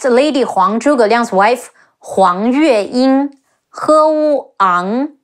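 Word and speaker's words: 黄月英: Next, Lady Huang, Zhuge Liang's wife, Huang Yue Ying, He Wu Ang, Huang Yue Ying, Huang Yue Ying.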